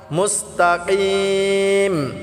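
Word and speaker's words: مُسْتَقِيم: ইহদিনাস সিরাতাল মুস্তাকিম। মুস্তাকিম, বড় কাফটা আমরা কলকলা করে তিন আলিফ টেনে পড়ব।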